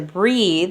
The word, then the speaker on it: breathe: So when you take breath and you put an E at the end, that turns into breathe. It's spelled the exact same way except for an E.